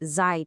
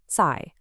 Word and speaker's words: 在: First up, zài. A really common mistake for English speakers is to make that Z sound buzzy, like in the word zoo.